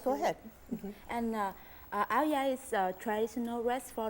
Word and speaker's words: áo dài: So, and we pronounce it áo dài? Yeah, That's áo dài.